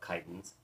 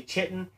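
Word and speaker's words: chiton: give or take of Titans again please don't say chitin and notice when we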